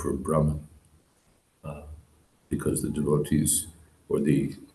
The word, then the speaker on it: Brahman: brmm by the way that that word is pronounced Brahman just I I detected a note of unsur uh it's pronounced Brahman but early devotees before the days of diacritic